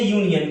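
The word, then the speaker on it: union: देख के प्रयोग करते हैं, या फिर प्रोनाउंसिएशन, प्रोनाउंसिएशन। आगे लेते हैं यूनियन, क्या बोला गया है, यहाँ भी यो है,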